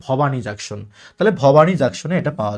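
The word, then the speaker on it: Bhowani Junction: যদি উচ্চারণ লেখা আছে কি ভবানী জাংশন, উচ্চারণ হচ্ছে ভবানী জাংশন।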